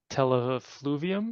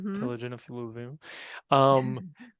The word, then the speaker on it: telogen effluvium: And so then with COVID and this long COVID picture that we're seeing with the chronic telefluvium, is that how you say it? Telogen Telogen effluvium, then the COVID is causing this inflammatory reaction that ends up having this effect on the follicles.